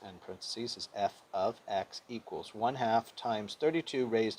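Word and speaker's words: f(x): so they have a function f of x that's how you pronounce f parenthesis x and parentheses is f of x equals one-half times 32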